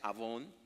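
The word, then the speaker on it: עָוֹן: palabra iniquidad es interesantísima viene el hebreo avón se pronuncia avón como avón llama Okay y se traduce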